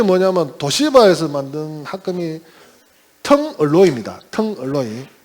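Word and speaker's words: Tungaloy: 텅얼로이. 그 텅스텐하고 알로이 합쳐갖고 이제 텅얼로이 하는 건데, 그 텅얼로이를 일본 분들이 그 발음을 잘 못해요. 그래서 단가루 이렇게 합니다. 단가루.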